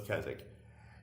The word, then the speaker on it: Keswick: stone circle, is called Keswick. It's spelled Keswick, but just like the town where we live, which is Alnwick, Alnwick, they don't pronounce their W's.